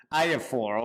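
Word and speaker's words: IAFOR: the acronym exactly is how is pronounced exactly pronounced I4 okay I was struggling with that most yes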